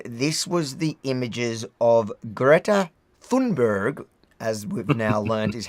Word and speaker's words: Greta Thunberg: Now, once we'd finished, this was the images of Greta Thunberg, as we've now learned is how you pronounce it.